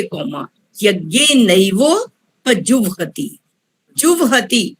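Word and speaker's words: जुह्वति: जुवहति, हमने व को उच्चारण पहले करना है, ह को बाद में करना है, जुवहति।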